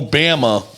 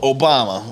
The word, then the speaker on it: Obama: That's like if he was like, oh, Obama. Like, nope, Obama.